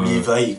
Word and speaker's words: Levi: Levi, comme... apparemment, c'est comme ça que ça se prononce. C'est Levi? Ouais, comme Attack on Titans.